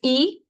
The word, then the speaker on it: y: If it's by itself, it's E. That's how you pronounce it, E, and it means and.